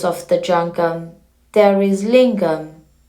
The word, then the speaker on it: Linga: And as the basis of the jangam, there is lingam. Linga is a word of 2 syllables. Lin and Gha.